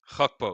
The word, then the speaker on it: Gakpo: Gakpo.